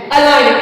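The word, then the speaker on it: align: एल आई जी एन अलाइन अलाइन मीस होता है सीधा करना तो अलाइन यहां पे अले नहीं पड़ेंगे यहां पे ए एल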